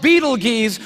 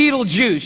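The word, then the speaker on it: Betelgeuse: heard about this star it's called Beetle geese or be Beetle Juice you can pick your pronunciation I'm obviously going with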